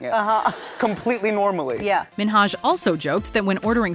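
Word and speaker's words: Hasan Minhaj: Television good please because everyone that says your name says Hassan Minaj yeah not only is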